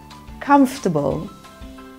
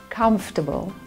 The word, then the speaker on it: comfortable: vegetable okay next one the second syllable is not emphasized so it's pronounced as comfortable comfortable okay next one vehicle the